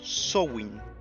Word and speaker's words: Samhain: más de 3000 años conocido como Samhain o también pronunciado como Samhain y traducido del irlandés antiguo significa fin de verano.